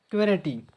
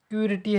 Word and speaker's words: QWERTY: तो कौन सा है, तो अपना लेआउट क्वेरिटी, क्वेरिटी लेआउट है, नहीं है। क्यूरिटी है, ये अपना एक लेआउट है।